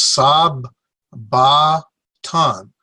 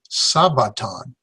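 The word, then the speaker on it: σάββατον: 3 syllables sob remember we got these two like consonants and so we separate them in a pronunciation so Sigma Alpha Beta is sob ba ton sob ba ton sabaton accent here where does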